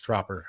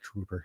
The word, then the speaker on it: Dropper: name wrong too Robin it's dropper um yeah but for some reason when I read it I think Trooper um I I said Trooper for like the first year that I knew Rob